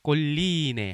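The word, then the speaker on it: colline: 때라고 봅니다 자 넘어갑니다 꼴리네 2 엘은 2개가 있습니다 그래서 그거는 꼴리네 하고 l 2개를 강하게 발음 해 주시기 바랍니다 그 다음에 강세는 e 에 있습니다 그래서 꼴 이인혜 그렇게 바람 하시기 바랍니다 자 그 다음 bag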